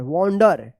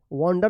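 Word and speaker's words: wander: डब्ल्यू ए एन डी ई आर वंडर। वंडर मतलब भटकना होता है।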